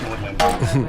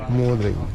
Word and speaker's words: Magdalen: So you'll see it spelled Magdalen College, but it's pronounced Magdalene, thanks to Thomas Audley. Magdalene.